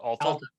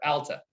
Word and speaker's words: Alta: probably pronounce it wrong is it all i was gonna i was gonna save you i heard i heard you start alta alta yes and that was gorgeous